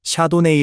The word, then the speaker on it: Chardonnay: You might hear both "Chardonnay" and "Shar-doh-nay" The first is closer to French pronunciation while the latter is the English pronunciation They both refer to